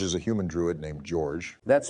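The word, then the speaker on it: Jorj: And George is a human druid named George. That's spelled J-O-R-J.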